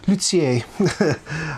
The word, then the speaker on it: luthier: You can pronounce it luier or luier if you want to, but I I try to pronounce it the the French way, even though it's a lone word. Lut lutier.